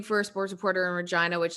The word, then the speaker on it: Regina: Now let's take it back to Regina. You're working, I guess, a full-time job. I'm going to correct you. It's Regina. It's the city that rhymes with fun.